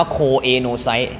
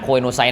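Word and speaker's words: choanocyte: อัน นี้ ครับ โคอนโนไซต อ่าน ว่า โคอนโนไซต นะ ครับ ตำรา เล่ม ใช้ คำ ว่า ชาว ก็ แล้ว แต่ อาจารย์ อ่าน โคโนไซต นะ มัน เท่ ดี นะ ครับ โคโนไซต นะ ครับ แล้ว ก็ มี อีก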